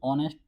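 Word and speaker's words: honest: इसमें आप देखोगे तो एच आ रहा है, एच को आप कॉन्सोनेंट समझोगे, लेकिन हम साउंड देखेंगे जो हिंदी के according. Vowel sound ऑनेस्ट, एच इसमें साइलेंट रहता है तो यहाँ पे एन आएगा। और में भी एच साइलेंट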